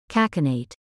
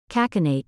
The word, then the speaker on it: cachinnate: the word flashed on your screen it is pronounced as kakinate kakinate means to laugh loudly uncontrollably or excessively let me repeat kakinate do you want us to feature a specific